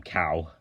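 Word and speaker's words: Kao: in next up is Cal the kangaroo or KO the kangaroo but it's supposed to be pronounced um um cow so this was developed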